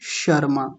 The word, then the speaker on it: शर्मा: एक उदाहरण है शर्मा। तो कितने लोग क्या बोलते हैं? शर्मा। शर्मा नहीं शर्मा। शर्मा। जब शर्मा बोलेंगे तो उस समय हमारी जीभ कहां जाकर के लगेगी? शुरू में उसी तालु पर जाकर के लगेगी।